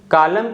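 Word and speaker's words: column: तो इन सभी वर्ड्स में आप देख सकते हो जो लेटर एन है ना एम के बाद आ रहा है और आखिरी में आ रहा है, इसलिए लेटर एन साइलेंट है।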